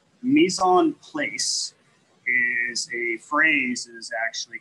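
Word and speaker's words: mise en place: word is place p l a c e mison place is a phrase that actually comes out of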